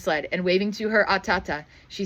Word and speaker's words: Atata: And waving to her, "Atata," she said, "I want to see how to pronounce that one." A t a t aata. Ah, I said that one right.